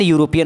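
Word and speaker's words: European: तो यहां पर ई तो है लेकिन इसका प्रोनाउंसिएशन यू की तरह हो रहा है।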